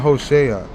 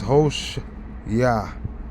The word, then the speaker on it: Hoshea: See, they're saying Hoshea. It's not Hoshea. It's Hosh Yah. Hosha Yah or Hosh Yah.